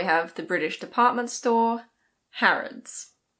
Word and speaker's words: Harrods: And now we have the British department store Harrods. It's not "har-OHD's". The last vowel is a schwa. It's Harrods.